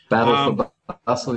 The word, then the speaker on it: Battle for Bustle: I always worry that I'm pronouncing it wrong. Battle for Bustle, yeah.